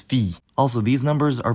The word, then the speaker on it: fille: To start, the words for son and daughter both look like they should be pronounced fille, but neither of them is actually pronounced that way. The word for son is fils, and the word for daughter is fille.